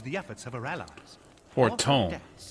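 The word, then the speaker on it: Fortemps: Fortom. That's how you pronounce that.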